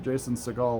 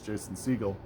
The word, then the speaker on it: Jason Segel: It's not I said it I pronounced it Jason Segel last week. It's not Jason Segel. It's Jason Segel."